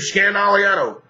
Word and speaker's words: Scandaliato: i a t o I say my last name is scan which is only four syllables but it's really five it's Scandal that way when I